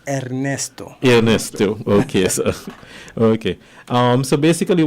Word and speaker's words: Ernesto: Let me give you the proper pronunciation. Ernesto.